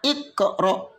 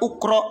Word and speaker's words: iqra: Jika huruf yang ketiga di kasrah atau di fathah, dibaca kasrah. Bacanya iqra. Jangan dibaca ukro atau akro. Enggak benar. Yang betul iqra.